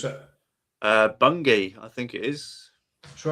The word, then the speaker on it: Bungay: But I want you to tell us about, now again, I pronounce this wrong, Bungay. Yes. Bungay. How do you pronounce it? Bungay, I think it is.